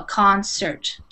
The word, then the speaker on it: concert: So it has the hard C in the beginning, but it has the soft C, or it has the S sound in the middle, concert.